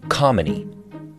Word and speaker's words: Kamini: Khumalo created a cheat code to help people pronounce her name, spelled k a m i n i, pronounced Khumalo, like harmony.